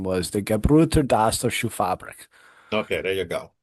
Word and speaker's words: Gebrüder Dassler Schuhfabrik: and the shoe company's name was the Gebrüder Dassler Schuhfabrik, Okay, there you go.